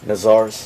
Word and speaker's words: Nazar's: How you pronounce that jewelry store? I want to pronounce it right. Nazar's. Yeah, Nazar's, Nazar's. We right okay.